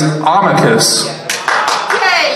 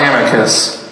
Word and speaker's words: Abacus: It is Abacus. Not Amicus. Amicus.